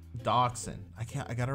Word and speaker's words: Dachshund: Dachshund. Dachshund. I can't. I got to remember that. After today, I'm going to probably... I'm going to like sit there and study this. Dachshund.